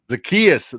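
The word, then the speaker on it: Zaccheaus: And he's already behind because he missed all the offseason and uh Ol give me the pronunciation. Oland Zakayas. Zakias. Zakias, the guy they signed.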